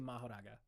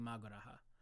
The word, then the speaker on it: Mahoraga: Those are the only ways to refer to Mahoraga. Or Magoraha. I think I liked mispronouncing the name and saying Magoraha.